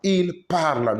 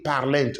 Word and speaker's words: parlent: The ENT is silence, is mute, it's not pronounced. It is the mark of third Personne plural. Il parle, not il parlent.